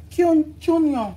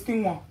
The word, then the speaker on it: quinoa: Cunion. What's it called again? How's it pronounced again? Cunion. Cunion. This is a cunion. Quinoa. No, it's quinoa.